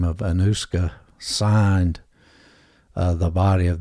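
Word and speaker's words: Anoushka: was uh known as see if I can pronounce this right anusa a n o u s hka and that was because uh Ravi sakar the Indian musician's Daughter by the name of anusa signed uh the body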